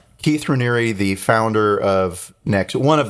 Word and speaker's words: Raniere: He pronounces his last name Raniere? I've heard it as Raniere. Okay. In prep for this, I listened to a lot of podcasts, and that's how they were pronouncing the name.